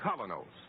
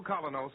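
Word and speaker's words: Kolynos: is start cleaning your teeth with the new Colonos, a high polishing toothpaste.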